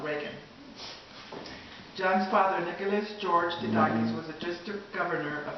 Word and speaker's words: DeDakis: We pronounce it DeDakis, the long A.